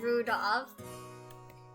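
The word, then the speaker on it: Rudolf: Anyway, this guy's name is pronounced Rudolph.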